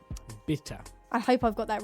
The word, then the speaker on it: bitte: is please but it's it said like the word bitter like a beer bitter bitter I hope I've got